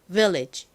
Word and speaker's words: village: 한 번 더 해보겠습니다 앞에 강세가 들어갑니다요 부분요 해볼게요 Village 좋습니다 자 다시 한번